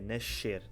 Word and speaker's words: nascer: Ou seja, no Brasil, entre o X e o C, vocês escolheram um C. Nós, em Portugal, na maior parte do país, escolhemos o X, então fica nascer. Nascer.